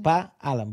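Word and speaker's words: paalam: Like pa'alam, right? Mm-hmm. Pa'alam, but it's like spelled together. Pa'alam. Mm-hmm. But it's pa'alam, like, you actually break them out.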